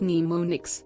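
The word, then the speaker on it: mnemonics: one effective approach involves using pneumonics pronounced pneumonics which are strategies specifically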